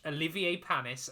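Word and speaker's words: Olivier Panis: we are gonna watch Olivier palmis and I did make sure to say his name correctly um not Roger Thomas version not Richard Hammond's version no um we yeah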